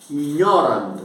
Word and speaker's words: ignorant: disp pigre sentas ignor ignor g n pronunciado como n né ignorant significa ignor uhum ignor